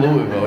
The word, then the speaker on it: Louisville: who live in fucking Louisville, you know what I mean? Oh! Fuck out of here, dude. I'm not pronouncing it like I've got a dick in my mouth. Use all your fucking letters, okay?